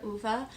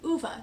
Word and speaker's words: Ove: I know a lot of people struggle with the pronunciation of the main character, Ova, but I'm going to go with Uva because that's how the narrator of the audiobook pronounced it, and I like to think that means they have some authority there. This has been going around